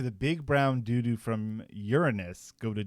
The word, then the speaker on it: Uranus: It has a lot of it makes fun of you for pronouncing Uranus anything different because there's an alien from Uranus named a doo-doo. And so the doo-doo from Uranus. Seriously, are you in 3rd grade? Stop pronouncing the planet as your anus.